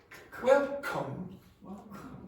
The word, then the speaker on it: welcome: Now, if k comes at the beginning of a syllable in English, it must be aspirated. So you have to go. Do that again. Welcome.